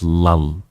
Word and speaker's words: lull: l l lull yeah it's lull like the Laugh Out Loud l l but it's lull led by the splashing